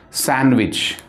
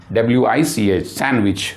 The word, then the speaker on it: sandwich: And please make note that the word sandwich, the pronunciation of this word is sandwich. Pronunciation of this word sandwich, sandwich. So D is silent here.